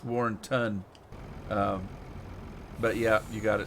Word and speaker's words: Warrenton: the drop to W you got it it's Warren ton but yeah you got it some people pronounce it Warrenton Warren town but it's not